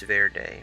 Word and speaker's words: Verde: Like when Vorde is. This sounds like someone pronounced green wrong in Spanish, which I'm pretty sure that's Verde, right? Green is Verde.